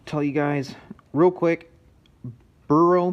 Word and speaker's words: BERU: I want to tell you guys real quick, Beru, B-E-R-U, I believe that's how you pronounce that.